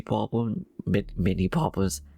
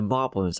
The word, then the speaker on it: moblin: So one's dear, I think the mini boblins, the moblins are. Not only did I say the enemy wrong, I said the enemy's name wrong. Like a boblin, apparently. Like it's like a moblin named Bob or something like that.